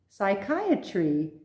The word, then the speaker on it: psychiatry: Now, you may wonder why on earth would they put a silent P when we don't pronounce it at all? There's a very clear reason for this. Because they are Greek, and in Greek, the P is pronounced.